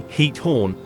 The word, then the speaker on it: Giethoorn: The pronunciation of Giethoorn is approximately Giethoorn, with a guttural ch sound similar to the German ich sound.